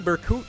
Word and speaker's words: Berkut: Yes, I am calling him Berkut now because someone was nice enough to actually tell me how to say his name.